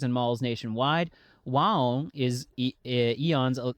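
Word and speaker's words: AEON: Wong is Eon's it's it's pronounced Listen, chat, it's pronounced Eon. Whenever I see it, I think it's like Aon, but it's Eon.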